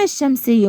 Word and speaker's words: الشمس: كتبت الالف وال طيب هنا اللام الشمسيه لا تنطق طب مش هنكتب لا هنكتب هي مش بنطقها بس بكتبها زي الشمس الشمس هل انا شلت اللام